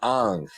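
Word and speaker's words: Aang: That's why he goes, oh, it should be pronounced Ang.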